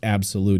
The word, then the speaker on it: Abxylute: on here is the absolute cloud gaming console yes it's pronounced absolute even though it's spelled like that a BX y l